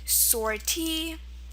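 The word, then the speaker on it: sortie: French so usually when we have words ending in the long e sound in French a lot of the time it's going to end in IE okay words such as sorty let me see spell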